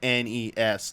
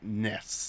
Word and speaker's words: NES: He said, Iwata says, NES Remix. Like, any chance you can get it. Might not be the best pronunciation. It might be a little hard to say sometimes, but it is clearly NES, not NES.